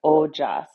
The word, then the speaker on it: ojas: The moon in yoga and Ayurveda is related to nourishment to ojas which is spelled o j.